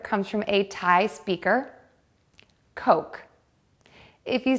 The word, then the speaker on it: Coke: The word should be pronounced coke. To say the word correctly, do two things for the o sound. Round your lips and make the vowel longer. Coke.